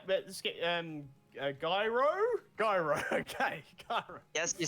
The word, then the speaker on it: Gyro: Gyro.